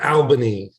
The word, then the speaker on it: Albany: Joe pronounce it uh Albany Al as in my friend Al yeah do you correct